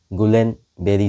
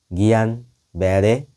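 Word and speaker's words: Guillain-Barré: জিবিসি নামটা হলো কেন জিবি সিনড্রোম কথাটার ফুল ফর্ম হলো গুলেন বেরি সিন্ড্রোম এবং উচ্চারণটা হওয়া উচিত গিয়ান ব্যারে সিনড্রোম ফ্রেঞ্চ নিউরোলজিস্ট জর্জেস গুলেন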